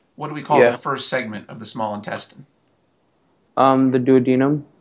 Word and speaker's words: duodenum: I don't know who's correcting you there, but the glossary says it's duodenum. So I think your pronunciation was correct. Maybe they're both acceptable. But your textbook's glossary pronounces it duodenum.